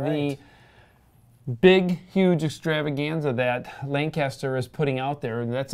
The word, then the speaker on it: Lancaster: We're not from Calendar. Lancaster. That's how you pronounce it.